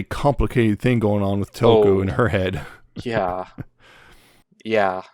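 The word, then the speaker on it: Tōko: Toko. That's right. Because that's the thing. It's Toko. You have to do this weird thing that you barely pronounce the U. It's almost like you're elongating the O.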